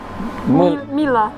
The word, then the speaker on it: Mila: how do you say your first name mila mila mila she's going to take classes with me